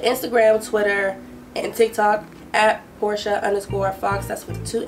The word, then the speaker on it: Portia: facebook um but instagram twitter and tick tock porsche underscore fox that's with two x's i'm gonna spell it at p o r t i a